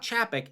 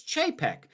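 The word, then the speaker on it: Chapek: name this whole time it's not chappic it's jpeg i am not actually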